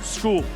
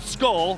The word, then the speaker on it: Scull: Canelo Alvarez versus William School. And yes, it may look like it's spelled or it's spelled skull, but it's pronounced school.